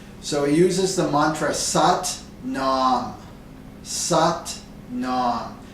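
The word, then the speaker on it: Sat Nam: it uses the Mantra sat Nom sat Nom it rhymes with butt mom so satn satam means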